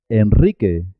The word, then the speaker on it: Enrique: También suena doble cuando la R va después de L, N o S. Se escribe simple, una sola R, pero suena doble. Por ejemplo, en alrededor, alrededor. Enrique, Enrique Iglesias.